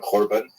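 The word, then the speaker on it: korban: tend to use the the Hebrew term kurban usually pronounced with the ashaz Gish pronunciation Corban uh which ties the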